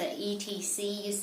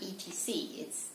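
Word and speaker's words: et cetera: talk about is the ETCs be here this is pronounces expect to ride it's not ET seeds etc it originates from latin so basically it just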